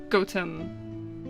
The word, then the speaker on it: Gotham: the H it would be goam with like a space in between like the the T in the the H does sound like an English town name yeah so apparently in